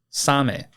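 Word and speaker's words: サメ: the Japanese word for shark and that is Sam Sam is spelled s a m e and s is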